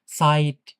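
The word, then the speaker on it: Zeit: উচ্চারণ হয়ছ কিছুটা কিছুটা স বা দন্তস এরকম উচ্চারণ হয় যেমন সাইট এইযে সোভাই মানে তো দুই হ্যা সাইট মানে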